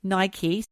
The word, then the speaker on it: Nike: it all went wrong he also had Nike that's how you pronounce it I got a friend